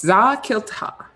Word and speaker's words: Za-Kilta: Now, when you pronounce this name, it is very important that you elongate the A's, because if you shorten them, it apparently means something quite offensive.